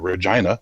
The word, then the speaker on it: Regina: friend of mine who lives in regina the town that rhymes with fun and he is a